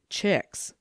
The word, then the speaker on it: Chihiliwix: My aunt's Lady Chihiliwix, but the family name is Lorne, and you pronounce my aunt's name Chicks.